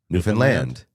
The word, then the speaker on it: Newfoundland: Pronounce it like Understand. Newfoundland.